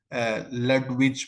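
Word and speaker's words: Ludwig: जिसका नाम चार्ल लुविज, दोनों तरह ही पढ़ सकते हैं इसको, लुविज भी पढ़ सकते हैं इसको, लडविज भी पढ़ सकते हैं, लेकिन इसको लुविज पढ़ें, डी को साइलेंट कर दें।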